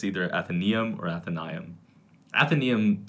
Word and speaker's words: Athenaeum: In Latin, Diphthongo, the AE diphthongo. is pronounced I. So I've always read it as Athenaeum.